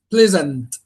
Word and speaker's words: pleasant: The first word which is pleasant. How many syllable is that word?